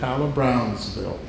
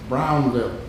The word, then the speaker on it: Brownville: neighborhood of Kyla Brownville most people in Savannah when you hear them pronounce it they say Brownsville Brownsville and he was and and he was adamant he said it's Brownville and uh and I